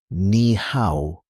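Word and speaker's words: 你好: The first word you need is nihow. Pronounced nihow. Let's slow it down. Nih how one more time.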